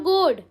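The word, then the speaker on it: goad: सो our next word is जोड़ और गुड? इट्स गुड। इट्स नॉट जॉर्ड guys? It's गुड। हाउ डू you pronounce? इसको ऐसे pronounce करते हैं। जी ओ एच डी के प्रोनंसिएशन जब आप फोनेटिक्स में देखोगे ना तो वो गॉड आता है। इट्स नॉट जोड़। ठीक है? This is a wrong pronunciation.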